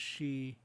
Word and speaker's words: Sidhe: SIDHE is pronounced she.